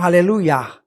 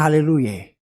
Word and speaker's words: haleluya: di surga di sana yang dibilang haleluya bukan haleluye.